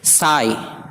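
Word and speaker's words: sigh: یعنی سائلنٹ رہتا ہے، جیسے سائی آہ بھرنا، دیکھیے اس کے آخر میں جی ایچ ہے لہٰذا اسے نہیں پڑھا جائے گا، یہ خاموش ہے، سائی آہ بھرنا۔ ہائی، ہائی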